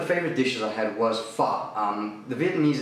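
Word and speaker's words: phở: one of the favorite dishes I had was fa um the Vietnamese It's oddly enough it's spelled p h o but it's actually pronounced fa and specifically fa which is the beef variety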